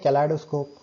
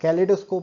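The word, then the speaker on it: kaleidoscope: अब इसे हम कहते हैं कैलाइडोस्कोप, ठीक है, और कैलिडोस्कोप भी कहते हैं, इसका प्रोनाउंसिएशन अलग अलग है, आप जो चाहे वो कह सकते हो, कैलिडोस्कोप या कैलाइडोस्कोप, ठीक है ना।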